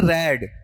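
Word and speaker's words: read: मेरा उच्चारण सुनना। रीड पढ़ रहा हूं या रेड? रेड पढ़ रहा हूं। ठीक है? फिर अगला पार्ट लो। रीड तो फर्स्ट में होता है। सेकंड, थर्ड में क्या होगा? रेड होगा।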